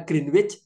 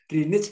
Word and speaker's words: Greenwich: Inggris Bu Green BAP bacanya Greenwich apa green Bu katanya kalau bacanya Greenwich masih kursus bahasa Inggris lagi yaahah sayaaca supayak suruh Kursus lagi greenich katanya nah London dan